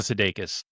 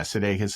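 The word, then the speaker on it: Sudeikis: know, Ted Lasso is Jason, how do you pronounce his name? Oh, Jason Sedakus. Yeah, Sedakus.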